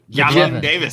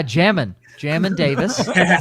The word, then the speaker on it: Jamin: Yamin Davis. Yamin Davis. Oh, yeah, Jamin Davis. Not how you say his name.